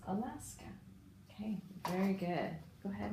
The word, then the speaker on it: Alaska: and read that forward yeah so it's not pronounced a last K it's Alaska okay very good go ahead and erase that